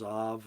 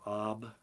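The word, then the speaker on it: אב: Father is Av or Ab. Sometimes the bait is pronounced like a V.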